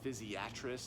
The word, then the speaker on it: physiatrist: to our especially as physiatrist and as I understand it in the early days there was an emphasis on that third syllable to differentiate it from psychiatry still some days I'll get patients that google dr.